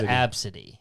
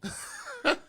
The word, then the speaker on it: Abcde: That's how you spell it? And it's pronounced Absidy. Absidy.